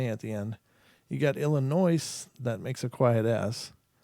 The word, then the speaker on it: Illinois: language it's like well if the S is silent why don't you just knock it off Illinois I don't know if